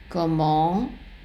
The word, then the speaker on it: comment: And also the word comment has a T at the end. That T is not pronounced.